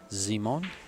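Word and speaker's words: Zymon: hadn't seen the face zimon zimon is say it's like Simon but then they put a z in there so it's a Polish Simon kind of it's spelled as z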